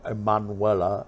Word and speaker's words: Emmanuelle: of the same name Emmanuel or emmanuella Manuela as my wife points out the pronunciation is Emmanuel but the thing is